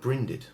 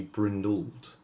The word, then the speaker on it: brindled: stress this syllable and we got the word brinded or actually it should be brindled which would change the pronunciation brinded brindal would change